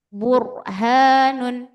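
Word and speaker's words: بُرْهَانٌ: Domah sebelumnya berarti bacanya burhanun. Jadi enggak burhan tapi bur ada ar ro tebal ya. Burhanun.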